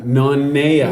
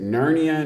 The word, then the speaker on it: Nanea: uh just to clarify my name is hawaiian so it's pronounced na naya na nea yes so that's the trick to hawaii is pronounce the ease like a's and pronounce every vowel yeah so you will